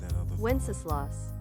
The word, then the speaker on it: Wenceslas: According to Google, this is how it's pronounced. Wenceslas.